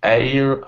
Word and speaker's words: heir: I think that's why I should drop H so I think it will be air I don't know air correct correct so so you know in in English we actually spell it's the same pronunciation as as the air that we breathe ah okay yeah exact same pronunciation I remember that is